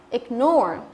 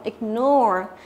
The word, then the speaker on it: ignore: Ignore có nghĩa là phớt lờ đúng không? Ignore cho âm thứ hai chứ đọc là ignore. Nhấn vào cái âm thứ hai, ignore.